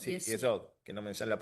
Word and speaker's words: Yesod: no pueden ser otro que no sea de Yosod, Y sí, eso. Yesod, que no me sale la pronuncio mal, Yesod, que es en línea vertical,